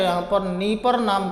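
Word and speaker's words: Dnieper: उसके बाद आइएगा तो ये नीपर नाम की नदी है, चूँकि डी साइलेंट है यहाँ पर, नीपर नाम की नदी है।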